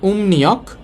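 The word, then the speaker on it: 음력: মিউমের পর রিউল আছে মিউমের পর যেহেতু রিউল আছে রিউলটাও তো এখানে ন হবে তাহলে উচ্চারণ হবে ওমনিয়ক ইয়াং নিয়ক সৌর ক্যালেন্ডার আর উমনিয়ক উমনিয়ক অর্থ হচ্ছে চন্দ্র ক্যালেন্ডার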